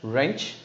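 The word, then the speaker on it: wrench: रेंच, इट्स रेंच. इट्स नॉट W, यहाँ पे कोई जरूरत नहीं है.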